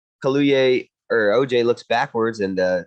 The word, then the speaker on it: Kaluuya: So, and then I think we go to OJ, which is I never know how to pronounce that dude's name. Kaluuya. Yeah. Kaluuya.